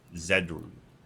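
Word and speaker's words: Zedru: e d r u zedu yeah zedu is probably a better pronunciation Z but I was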